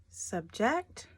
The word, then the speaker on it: subject: right okay next one subject or subject well this one emphasis is on the second syllable so subject subject not